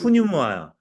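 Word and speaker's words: πνεῦμα: 발음이 그 푸뉴마야.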